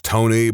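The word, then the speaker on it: Toeknee: I know a guy whose name is Tony, but it is spelled to that is so freaking dumb. No, that's the worst name. That's the worst name. For a smidgen of context, for those of you who maybe don't understand, their name is spelled T O E K N E E.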